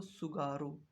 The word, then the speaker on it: Tsugaru: क्या कहते हैं इसको, सुगारू। इसका नाम TSUGARU, टी साइलेंट है यहाँ पे। जैसे सुनामी होता है, टी से स्टार्ट होता है, उसमें टी साइलेंट होता है, इसी प्रकार से सुगारू जलसंधि।